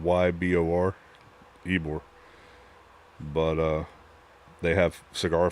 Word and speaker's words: Ybor: See, like, this is a place in Ybor City. From what I'm seeing, I didn't realize there were this many cigar shops and cigar places in Ybor. And yes, that's how it's pronounced. It's spelled Y-B-O-R, Ybor.